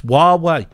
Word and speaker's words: Huawei: I'm super glad to tell you, I do know how to pronounce it. It's Huawei.